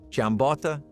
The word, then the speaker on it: giambotta: Every Southern Italian region claimed it, and every family pronounced it differently. Giambotta, giambot, giambotta.